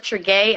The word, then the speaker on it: Tregaye: Well, I am Chef Tregaye.